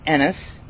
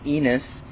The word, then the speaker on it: Ennis: my name is Enis and I like to say because some people call me enus it rhymes with tennis not with penis thank you I'm from